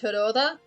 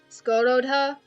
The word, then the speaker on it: Hidora: Because even though I know it's pronounced Hidora, pretty much everybody who reads it is gonna go, like... Skurodha. They're gonna say weird shit, and I respect that.